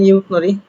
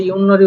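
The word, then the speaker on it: 윷놀이: তো প্রথমে দেখতে পাচ্ছি ইউনরি, এখানে উচ্চারণ করতে পারেন ইউথনরি, তবে ইউনরি উচ্চারণ হবে, দেখেন নিচে সুন্দর করে দেওয়াই আছে। কারণ কি, তবর্গীয় বর্ণের পরে নিউন আসলে তবর্গীয় বর্ণটাও নিউন হয়, ইউনরি, যেটাকে আমরা ইউথ খেলাও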